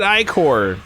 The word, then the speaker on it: ichor: She pronounced it Ichor. It is Ichor.